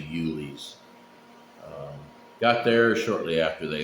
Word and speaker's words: Uhle's: I guess I was pronouncing it wrong the entire time, so it's actually Uhle's.